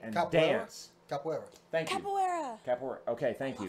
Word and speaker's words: Capoeira: Capoeira. Okay, thank you. Capoeira.